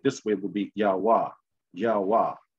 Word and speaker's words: YaHaWaH: Then when you take the syllable breakdown, Y-H-V-H, which is not Y-H-W-H, which it is Y-H-V-H. So YaHaWaH or YaHaWaH.